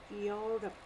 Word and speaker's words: Europe: We are going to say Europe. We are not going to pronounce E over here.